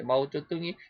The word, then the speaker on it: 마오쩌둥: 마오쩌둥이가 모태통이라고 우리는 그래 발음했는데 중국 발음으로 마오쩌둥이라고 그러는데 마오쩌둥이 인해 전술해 가지고 사람을 총알 바지로 해갖고 얼마나 많이 보냈는지 총을 쏴도 계속해서 밀려오는 중공군들에게 밀렸다.